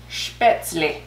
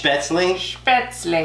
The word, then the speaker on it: Spätzle: we made it wrong and that I was pronouncing it wrong I'm sorry okay so I looked it up and it's spits me it's Beth's leash well I'll tell you what for everyone who